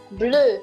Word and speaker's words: bleu: Bleu. Bleu. It's like blue, but shorter.